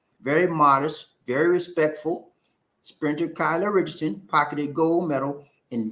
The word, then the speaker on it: Kayla: is kyla richardson okay it's pronounced kyla not kayla kyla and she's a beautiful